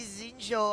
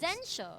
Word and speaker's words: Zensho: Pinayuan na dito, mga kaibigan, si Zincho. Ang hirap sabihin ng pangalan, mga kaibigan. Zensho. It's Zensho.